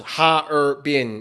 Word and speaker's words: Harbin: Next one capital Harpin. It's actually three syllables. Ha bin. It looks like it's two. Harbin, but it's anyway.